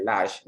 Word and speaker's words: large: A pesar de que large tiene aparentemente dos sílabas, recordemos que la E al final no suena, por lo tanto su pronunciación es monosílaba. Más dice large, no large o large, no, large solamente.